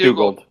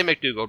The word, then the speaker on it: McDougald: It's like McDougald with a D. McDougald, I guess? Yep. I'm not sure exactly how you say it. Bradley It's McDougald. Let's say McDougald.